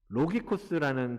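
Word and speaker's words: λογικός: 이 헬라어 원어를 보면 로기코스라는 단어를 쓰고 있거든요. 로기코스. 원어를 한번 보여주세요. 헬라어로 로기코스라는 단어인데, 이게 발음이 이제 로기코스라고 읽어요.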